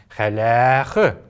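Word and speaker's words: хәләх: дольше произноситься, чем даже вот эта буква «э». Халях. Ударение как будто бы на нее такое интонационное падает, но на самом деле ударение всегда в калмыцком языке падает только на последний слог.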